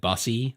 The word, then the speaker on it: e-bussy: It's supposed to be said bussy, like buses.